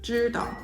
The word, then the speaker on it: 知道: For example, in mainland China, this word would commonly be pronounced 知道, 知道, with a slightly less stressed second syllable.